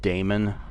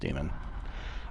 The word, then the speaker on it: daemon: Is it weird that I always thought that word was pronounced daemon? Like, okay, we're not going to call anything about computers demons, are we? I mean, it's not the 80s anymore, right? No, it's pronounced demon.